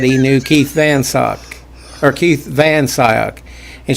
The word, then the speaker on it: Van Scyoc: said he knew keith van sock or keith van sayoc and she says it's not van sayoc it's van sock and so he asked